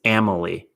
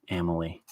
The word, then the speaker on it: Amelie: So it's not Emily, it's Amelie. Wow. Huh. Shoot. Family without the F. Family, Amelie.